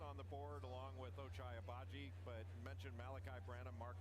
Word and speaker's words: Ochai Agbaji: Ochai Agbaji, that's how you say his name.